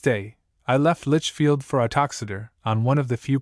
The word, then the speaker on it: Uttoxeter: Boswell, I think, speaks of the town, its name is pronounced Uttoxeter, as being about 9 miles off from Lichfield,